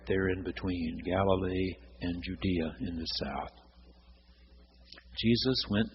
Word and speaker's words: Judea: Judah in the Hebrew Scriptures, now Judea, pronounced more in the Roman way.